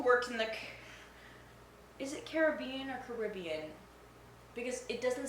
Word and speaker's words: Caribbean: you a different question I'm going to go with Caribbean unless I'm talking about the movie no no it's cariban a Pirates of the